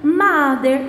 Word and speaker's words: mother: Olha, a mother se escreve mother, mas se lê mother com som de A.